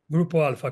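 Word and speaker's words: Grupo Alfa: I think the name of the company was Grupo, as I'm pronouncing it correct, is Grupo Alpha? Grupo Alpha, correct.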